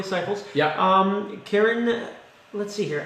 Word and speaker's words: Cyples: So you to get to know Cyples, and that's how you say it, Cyples.